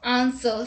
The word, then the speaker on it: answer: W is not pronounced in the following words. Let's look at the examples. Who, whose, whom, whole, whoever, answer, sword, to, etc.